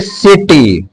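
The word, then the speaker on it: city: बाद आई आता है तब भी सी का उच्चारण स से होगा जैसे सिटी सी के बाद बाई आ जाए क्या आ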